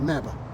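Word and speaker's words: MABAH: We, in fact, call our solution MABA. Rhymes with MAGA, only a lot better.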